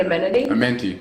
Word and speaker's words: Amenti: Amenti, yes.